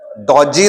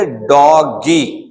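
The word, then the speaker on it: doggy: तो देखिए, डॉगी, डॉजी नहीं पढ़ेंगे, इसको हम पढ़ेंगे डॉगी।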